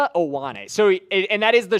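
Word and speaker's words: Vega Ioane: Give me the pronunciation of this name because I always struggle with it. Okay. So, this is Vanga Aane. Wa Aane.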